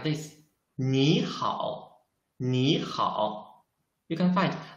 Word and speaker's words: 你好: 你好你好 You can find, I changed the 你 I changed its pronunciation. Why? Because in Chinese, if there are two third tones, we should change the first third tone into the second tone. That's why I should read it 你好 not 你好 It's wrong.